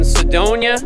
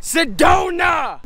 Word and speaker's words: Sedona: We are in Sedona. Wrong. Pronounced Sedona. Going to the Slide Rock.